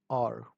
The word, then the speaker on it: hour: हा की आती है लेकिन यहाँ पर इसको हावर नहीं पढ़ेंगे हम, तो इसको हम, इसकी जो करेक्ट प्रोनाउंसिएशन है वो है आर।